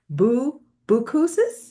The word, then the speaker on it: Boucousis: And with us, we have former Australian fighter pilot and CEO of Afterburner. Is that correct? Did I pronounce it?